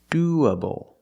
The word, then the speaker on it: doable: Pronunciation, doable. Doable. The stress is on the first syllable.